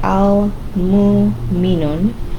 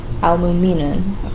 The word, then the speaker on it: Al-Mu'minun: This is the hardest to pronounce for me. Al-Mu'minun. Al-Mu'minun, okay?